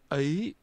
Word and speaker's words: ấy: He is pronounced with a mid-level tone. Ông and a rising tone.